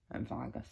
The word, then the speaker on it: Vargas: Vargas is how you say it.